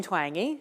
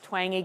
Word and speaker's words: Twenge: So, my name is Jean Twangi. If you can't remember how to pronounce my last name, it's Twangi Guitar.